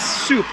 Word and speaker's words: soup: It's soup with an S, soup, and bring that oo up a little bit, so soup.